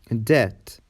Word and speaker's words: debt: B is silent before T and after M. For example, debt, doubt, saddle, dumb, tomb, comb.